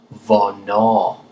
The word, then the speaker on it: hvornår: Question word number 3 is when, which is pronounced hvornår in Danish.